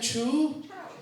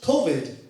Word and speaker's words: Chou: Sometimes people do it chu. Yeah. Sometimes people do it, but actually in China it's pronounced co.